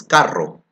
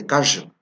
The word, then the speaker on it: carro: So if I want to say car in Spanish, it's carro. But they don't say carro, but they say callo.